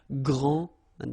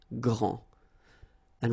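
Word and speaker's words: grande: you don't the day here and you don't pronounce the final s okay so gr and then same thing here gr and regarding the feminine form you will pronounce it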